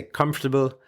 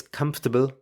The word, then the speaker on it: comfortable: In Ireland, we say comfortable, kind of leaving out the second O, comfortable. In the UK, it's comfortable. Without the second O and without the R, comfortable. And then in the US, they say comfortable, which does include both the O and the R, comfortable. So, any of those is acceptable. What's not okay is comfortable or comfortable. Uh, pretty ugly those two.